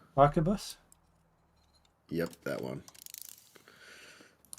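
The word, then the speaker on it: arquebus: How do you pronounce that word? Help me out, Spud. Archabus.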